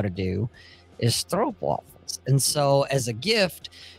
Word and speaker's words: stroopwafel: So when you and Jack talk, have you mentioned that you have stroopwafels?